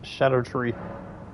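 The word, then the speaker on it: Scadutree: Fun fact, scatter tree is pronounced as shadow tree. Oh, wow. So, it's shadow tree blessings. Didn't know that. I didn't know that the sea was silent.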